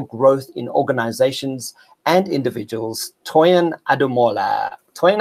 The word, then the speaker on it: Toyin: Toyin Ademola.